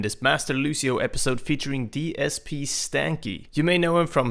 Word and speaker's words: DSPStanky: Uh hey guys, I'm DSP Stany and that's how you say my name. It's DSP and then Stanky. Uh I get a lot of people who say it's a DPS tanky or anything like that.